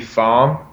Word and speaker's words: Pham: Like, Man, so it's supposed to be Pham, but I tell people they say whatever they want to say, man. It sounds good either way to me, as long as you're saying my name.